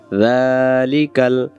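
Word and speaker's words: ذٰلِكَ: আলিফ লাম মিম যালিকাল, যালিকাল, জাল অক্ষরটাকে এখানে এক আলিফ টানবো, জালের উপরে খাড়া যাওয়া থাকার কারণে। কিতাবু, তা অক্ষরটাকে এক আলিফ টানবো এক লেখা থাকার কারণে। যালিকাল কিতাবু, লা এক আলিফ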